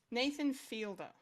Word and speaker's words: Nathan Fielder: Nathan Fielder.